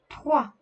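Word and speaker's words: trois: 3, 3. The combination of OI makes the sound wa. S at the end is silent.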